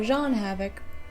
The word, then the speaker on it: Jean Havoc: odd one out he's voiced by the same voice as the actor playing jeene Havoc or Jean Havoc because that's how the author wanted it pronounced but I'm ignoring that it's genan I wouldn't exactly consider